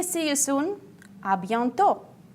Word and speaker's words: à bientôt: If you want to say see you soon, à bientôt. À bientôt. As usual, I pay you attention. We don't pronounce T at the end.